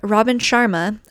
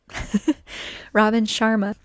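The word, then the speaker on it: Robin Sharma: Um, Robin Chararma, I still love him. I even learned how to say his name, right? Robin Chararma just said that, you know, the most important thing is that you just start.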